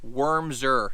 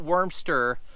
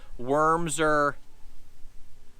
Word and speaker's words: Wormser: This is the Magnum Baits Wormser, not Wormster, Wormser bait.